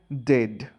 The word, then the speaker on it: dead: sounds like bird and dead. It's said like bed, not bead. For goodness sake, don't call it deed.